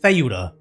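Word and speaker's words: Ceuta: So, it's not Spain stopping people from getting into I know it's spelled seuda, but to my understanding, you pronounce it theuda.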